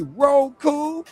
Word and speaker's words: Roku: Fire sticking room clue or pronounce it right. Make it clear and say Roku.